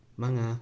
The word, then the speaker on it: mga: as ma no thanks just manga but say it really fast anyway this particle you